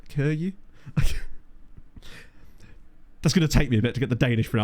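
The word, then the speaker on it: Køge: specifically with um uh HB Kura or forgive me Dan for how it's actually pronounced Kuru.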